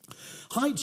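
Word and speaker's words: Haidt: answer but it's a completely different mental process height uses a bit more of a poetic me metaphor h a i DT it's spelled he refers to the brain as the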